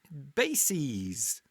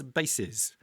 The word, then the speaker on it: bases: analyzes or crises and bases which is not the same as bases which is the plural of the singular noun base note the difference in pronunciation bases and bases also some Latin origin